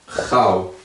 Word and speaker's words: gauw: Mas no holandês, todos os dois têm o mesmo som. Então, todos os dois é au. Por exemplo, vou colocar uma palavra aqui fácil. Gauw.